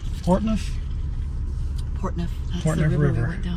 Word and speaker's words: Portneuf: But she also did pronounce Portneuf. Portneuf.